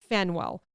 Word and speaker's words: Faneuil: This is like mentioned a lot, so I didn't know how to say it because it is spelled Faneuil. Fenwell.